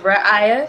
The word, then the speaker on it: Raihyah: Yes, so I would say fans, viewers, I just go by my first name, and it's pronounced Raihyah. If you have any struggles with that, think of Mariah, but Raihyah.